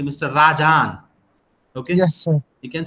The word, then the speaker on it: Rajan: It is Rajan, R-A-J-A-N, right?